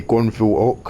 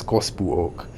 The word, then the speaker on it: Gospel Oak: station for some reason I have a very strong temptation to say gonville Oak I don't know why but it's it's gospel Oak it requires so much effort to say it correctly I'm not sure if